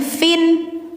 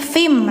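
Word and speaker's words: صحف: hu fim mu ah bacanya jangan fin tapi fim langsung dimasukkan ke mim ya. Kenapa? Karena ada proses idgum memasukkan tanwin ke mim. Jadi yang awalnya n jadi m fim mukarromah.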